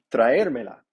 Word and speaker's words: traérmela: Mi esposo va a traérmela. Again, we put the me before the la because indirect before direct. And we put a written accent on the syllabus. The syllable that is emphasized. Traérmela.